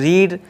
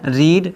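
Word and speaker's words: read: तीनों सेम होते हैं, लेकिन उसको प्रोनाउंसिएट हम क्या करते हैं, अलग अलग तरीके से करते हैं, है ना। रीड, रेड और रेड, ठीक है, ये इसके तीनों फॉर्म होते हैं, ठीक है।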